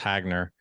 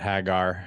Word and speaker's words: Hagner: My last name is pronounced Hagner, and not Hagar.